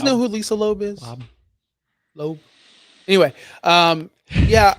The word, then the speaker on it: Loeb: Is it like Lisa Loeb? Spelled like Lisa Loeb, yeah. Do you guys know who Lisa Loeb is? Loeb.